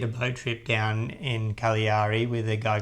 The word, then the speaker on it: Cagliari: entire trip, calling it Cagliari for so long. So, we apologize if you've been watching our first YouTube and now we know that it's pronounced Cagliari. It's a silent G, but we loved this town.